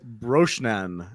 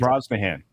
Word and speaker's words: Brosnahan: Rachel Brosnan as Clark Kent. Brosnahan.